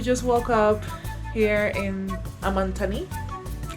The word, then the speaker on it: Amantaní: woke up here in amanthani I'm that's the name of the island in the middle of the Lake City that's how you pronounce it you're not supposed to pronounce it the other way that's that's the wrong way yeah we slept well